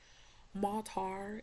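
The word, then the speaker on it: מטר: out of the sky matar matar is the way they pronounce that and it says to rain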